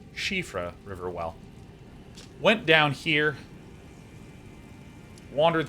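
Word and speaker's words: Siofra: i formerly described as siafra riverwell which is apparently correctly pronounced shifra riverwell went down here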